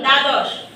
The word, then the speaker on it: দ্বাদশ: আকার দিলে দা, কিন্তু দয় ব, এটার উচ্চারণ কি হবে? দ। দ। তাহলে দয় ব আকার দা দশ। ঠিক আছে? জি। দ্বাদশ।